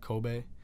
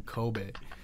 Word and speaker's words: Kobe: it so much that he named his son Kobe. So people pronounce it Kobe, you know, when they say his name, but it's really pronounced Kobe.